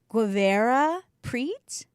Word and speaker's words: Guevara-Prete: know please welcome i'm going to say your name wrong guevara preach you got it girl i did eva has